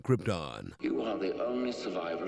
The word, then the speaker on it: Krypton: were too scared to tell that he was mispronouncing Krypton.